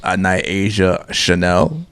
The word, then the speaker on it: Nyasia Chane'l: And joining us is a lovely young lady by the name of Nyasia Chane'l.